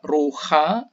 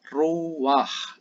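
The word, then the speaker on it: רוּחַ: Dan kemudian untuk khusus yang terakhir ini tidak dibaca ruha, tetapi ini dibaca ruwah.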